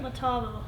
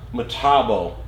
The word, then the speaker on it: Metabo: How do you even pronounce that? Metabo. Metabo.